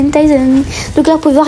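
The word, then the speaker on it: Tayzan: Et ça s'écrit T-A-Y-Z-A-N. T-A-Y-Z-A-N. Il s'appelle Tyson.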